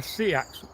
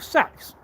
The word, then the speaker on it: seax: I want to work on a Seax or Sax, depending on how you pronounce it. Some cultures even pronounce it and people pronounce it sex.